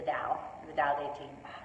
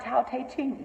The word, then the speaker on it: Tao Te Ching: book for me is the Tao Te Ching. That's how you say it. The Tao. Yes. It's also... It's not Tao Te Ching. No, it's Tao. It's Taoism.